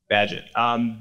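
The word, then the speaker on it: Bagehot: Walter Bagshot I believe does the pronunciation Padgett Badgett okay right Badgett that was somewhat interesting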